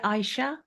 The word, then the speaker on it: Aisha: It's spelled Ashia, but you say Aisha.